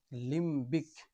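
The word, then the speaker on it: limbic: এর উচ্চারণ হবে লিম। কিন্তু এই ওয়ার্ডটি লিম্বিক।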